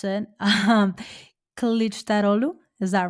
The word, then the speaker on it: Kılıçdaroğlu: a runoff election between Erdogan and, help me pronounce it, Kılıçdaroğlu. Is that right? Yes, Kılıçdaroğlu.